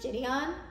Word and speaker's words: Jidion: flattered let's go into I think it's pronounced Gideon um that's how you say his name like I said I'm